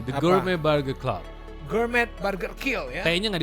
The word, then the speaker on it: Gourmet: Gourmet Burger Kill ya. Kayaknya nggak dibaca. Bacanya apa sih Kang Dika biar kita nggak salah nih? The Gourmet. Gourmet. Oh. T-nya nggak dibaca.